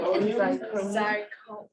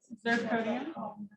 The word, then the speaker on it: zirconium: Oh, how do you say it? Zirconium. How? Zirconium. You've heard it before, zirconium? Not really. Is Is it ZIR? Yeah, Zirconium.